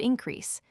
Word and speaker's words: increase: loves and comforts should increase, emphasis on the last syllable, crease, loud even, 1, 2, 3, 4, then loud again, as our days do grow, emphasis on days.